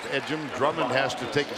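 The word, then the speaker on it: Ejim: edum at the line it's e gim pronounced edum Drummond has to take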